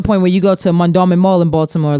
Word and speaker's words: Mondawmin: When I first heard about Mondawmin, my cousin said it, and I was like, Mall Diamond? She was like, no. Mondawmin. Mondawmin. That's exactly how we say it, is how it's spelled.